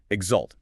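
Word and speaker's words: exult: Exalt e x u l t.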